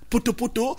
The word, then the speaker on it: Poto-Poto: Oui, Poto-Poto. Voilà, c'est un plaisir de le prononcer.